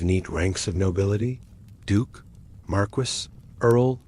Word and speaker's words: Marquis: Wait, is Marquis just a fancy earl? And what's a Vic count? You blink rapidly, realizing you've entered a world where pronunciation alone is a minefield. Marquis is not Marquest and Viccount is not vicecount.